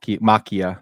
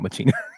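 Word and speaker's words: Ex Machina: selan Murphy I'm sorry it's also ex Mak Makia not Machina this is if you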